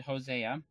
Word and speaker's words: Hosea: you don't don't know it's actually hosea i will call them